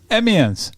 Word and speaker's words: Amiens: And you are from Amiens in France. Mm-hmm. Is that, do I pronounce that right? Amiens, yeah.